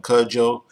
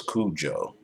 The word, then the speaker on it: Cudjoe: And I'm calling him Cudjoe because that's how he said it's pronounced. I thought it was Cujo.